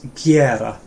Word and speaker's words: gera: do, or to make, really common, and it's gera. Gera. Do you want to just say it back? Gera. Gera. Yeah, gera. And do you want to say it, Rachel? Gera.